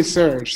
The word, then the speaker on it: Serge: Is it Sarge or Sarge? You can say Serge. Serge is fine.